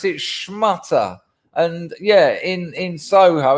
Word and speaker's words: schmutter: a shmat a cop poor me well we pronounce it shmutter and yeah in in soho it means cloth